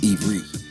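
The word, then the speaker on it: עברית: Because the word Hebrew is actually not Hebrew, but an English word for the descendants of Abraham. The true pronunciation is Ivrit.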